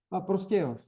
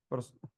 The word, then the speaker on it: Prostějov: Prostojov? Prostějov.